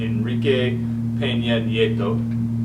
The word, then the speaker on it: Enrique Peña Nieto: Trump's in Mexico meeting with Enrique Peña Nieto. Nice. That's how it's pronounced.